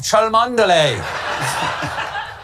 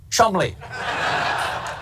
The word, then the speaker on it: Cholmondeley: The Marchioness of Cholmondeley. What a beautiful name that I'm being told right now that I pronounced incorrectly. It is, in fact, pronounced Chumley.